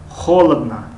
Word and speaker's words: холодно: холодно, ду ое ки дар охир аз инҳо хонда мешавад, аммо ое ки ударение ҳаст, яъне аломати зада аст, пас вай о хонда мешавад.